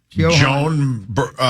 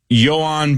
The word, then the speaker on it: Joan: Joan. It's Johan, brother. It is spelled like Joan.